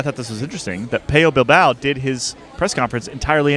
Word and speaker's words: Pello Bilbao: One of the nice things about Pello Bilbao, I'm sure that I'll slip up and pronounce it Pello Bilbao again, but Dane will be furious because he speaks very good Spanish and I don't speak any. Pello Bilbao.